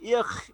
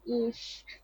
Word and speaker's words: ich: আচ্ছা, এই উচ্চারণ হচ্ছে ইখ ইখ ইখ। আমি আই জার্মান ভাষা এই। জি স্যার, স্যার এটার উচ্চারণ ইস। আল্লাহ, আমি ইয়াতে অনেক লেখাপড়া করে শিখলাম ইখ।